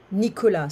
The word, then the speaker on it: Nicolas: Nicolas. So in French, we don't pronounce the S.